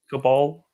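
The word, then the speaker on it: Caballé: It's not going to be Cabral. There's no R in it. All right, Cabal.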